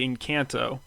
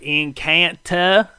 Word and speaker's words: Encanto: of this movie oh in real life i say in kanto um to bug you i said incanta uh because it's in